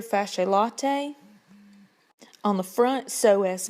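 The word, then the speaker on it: psoas: latae on the front so as major that P is silent iliacus k a doctor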